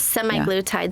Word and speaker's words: semaglutide: So now if you could tell us a little bit about SLIM Therapeutics and semaglutide, if I'm pronouncing that correctly. Yes, semaglutide.